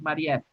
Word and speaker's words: Marief: Y acuérdense que su nombre se pronuncia es Marief.